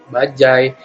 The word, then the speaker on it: bajaj: Di sini cara pembacanya itu yang tadinya rakyat dibaca jadi rakyat, bajaj dibaca bajai, dan ubur dua dituliskannya menggunakan huruf sambung menggunakan strip jadi ubur-ubur, seperti itu.